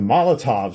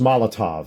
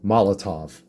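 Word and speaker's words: Molotow: the Molotov stuff, and it's pronounced Molotov, not Moloto, Molotov.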